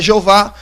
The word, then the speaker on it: Jeová: Uns vão dizer que é Jeová, outros vão dizer que é Iaver, outros vão dizer que é Javé, outros vão dizer que é Ieoa e outros vão dizer que é Iau.